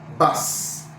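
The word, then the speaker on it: bus: So when you pronounce U, you are not expected to round your lips. So you are expected to spread your lips. So this is pronounced bas, bas.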